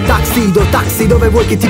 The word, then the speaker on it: tuxedo: di sopra il tuxedo la pronuncia corretta è taxido taxi dove vuoi che